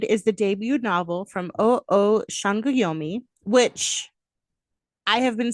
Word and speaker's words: Sangoyomi: I didn't know S's in, Nigerian, but now I do. It's a sh. So, Sangoyomi.